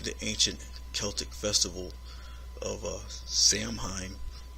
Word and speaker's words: Samhain: ancient Celtic festival of Samhain or pronounced sow in the Celts who lived